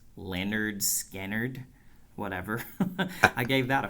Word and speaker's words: Lynyrd Skynyrd: Lynyrd Skynyrd, pronounced Leonard Skynyrd, whatever.